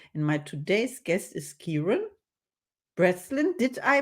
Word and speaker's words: Chiaran Breslin: My name is Caroline, and my today's guest is Chiaran Breslin. Did I pronounce it right?